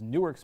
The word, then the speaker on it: Newark: of running into burning buildings as new as Newark's mayor when he was Superman Sinbad Pete also